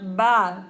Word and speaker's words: va: Cuando nosotros pronunciamos V, like the letter V and B are identical in Spanish.